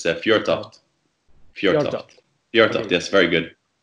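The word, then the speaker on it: Fjørtoft: It has a bit of an unfamiliar letter in it, but it's Fjortoft.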